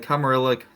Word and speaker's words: Camarilla: It's Camarilla. I've heard different people pronounce it differently.